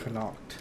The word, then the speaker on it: Connacht: Connacht.